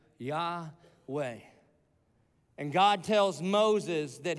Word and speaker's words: Yahweh: the way it's pronounced Yahweh it was supposed to sound like breathing Breathe In Breathe Out yah way and God tells Moses